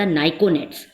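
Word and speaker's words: pnictogens: इट is called the नाइकोनेट्स। क्या कहते हैं? नाइकोनेट्स। पी इज a silent, this is अ नाइकोनेट्स।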